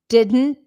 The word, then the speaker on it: didn't: all the words yes I can explain the reduction of the word didn't didn't so it's kind of like you're saying D and then a d and an N you don't necessarily pronounce the T didn't didn't now in